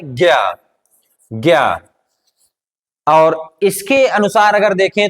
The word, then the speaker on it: ज्ञ: हमारा वर्ण है ज्ञ ये किसका योग है ज और प्लस य क्या हो जाएगा ज